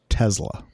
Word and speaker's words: Tesla: And it's pronounced Tesla. Tesla, yeah. Tesla with the Z.